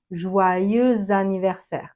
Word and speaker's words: joyeux anniversaire: Et on entend ce joyeuse anniversaire parce que anniversaire commence par un a. Donc on fait la liaison et on va entendre joyeux anniversaire comme si c'était au féminin joyeuse